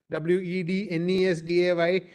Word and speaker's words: Wednesday: a very confusing language although it is written as w-e-d-n-e-s-d-a-y which should be pronounced as wetness day it's pronounced as Wednesday so let's not go into